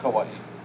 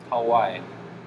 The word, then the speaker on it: Kauai: newest scholarship is saying the true pronunciation for kauai is not kawaii but hawaii you know how when